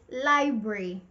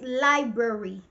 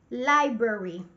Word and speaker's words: library: I oftentimes hear people say library, two syllables. It's wrong. It's not correct. The correct pronunciation is library with three syllables. Library.